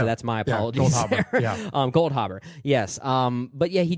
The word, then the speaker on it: Goldhaber: Harbor gold Harbor okay I'm adding an F there that didn't exist that's my apology um gold Harbor yes um but yeah